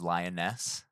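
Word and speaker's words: Lyonesse: lioness lee looks kind of like i was pronouncing so please forgive me it is lioness and i'll make sure i double check some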